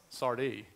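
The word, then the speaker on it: Sardis: go ahead yeah sard Sardi you don't pronounce the S I'm pretty sure Phil uh thank you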